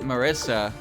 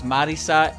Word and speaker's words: Marisa: Marissa is not a Japanese name, so if you pronounce it Marissa, you're perfectly okay.